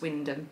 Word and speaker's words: Wymondham: from a place called Wyndham, but it's spelt Wymondham, but it's actually pronounced Wyndham, but then that's Norfolk for you, he'll say that.